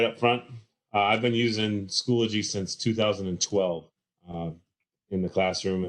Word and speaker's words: Schoology: I called it Schoology until somebody corrected me and said, "Hey, you're adding a syllable." So it's pronounced Schoology.